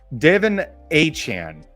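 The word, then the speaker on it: De'Von Achane: Devin Achane is how he would like to be pronounced now, right?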